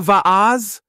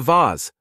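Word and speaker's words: vase: flowers or Steve Shrugged Oh you mean a Vaz she asked no I don't I mean a vas Vas v a s e vas Steve stressed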